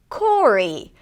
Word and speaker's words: Cory: Then we have the name Cory. Cory is very similar, it rhymes with Rory.